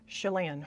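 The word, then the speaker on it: Chelan: Lan rhymes with can. So, I guess it's Chalane.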